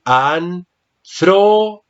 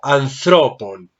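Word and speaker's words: ἀνθρώπων: En el nominativo decimos anthropos, pero aquí ya está en genitivo. El acento, observa que está en la segunda sílaba, entonces tengo que decir anthropon. Bravo, anthropon.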